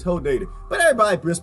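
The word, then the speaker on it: Hodeidah: day to stop in it's not who date is hoe dated but everybody bris pronounced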